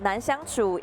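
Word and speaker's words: 難搞: word in English but nangu in mandering Chinese it means that someone is very difficult to get along with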